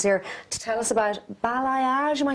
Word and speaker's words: balayage: Now, you're here today, Laura, and Robert is here to tell us about balayage.